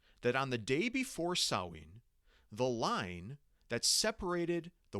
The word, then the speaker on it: Samhain: And if you're wondering how you get the pronunciation Samhain from this word, my understanding is that in this case, the MH is pronounced like a W in the Irish Gaelic language.